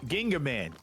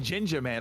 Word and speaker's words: Ginga Man: Because it was Ginga Man. We were saying Ginger Man, like ginger.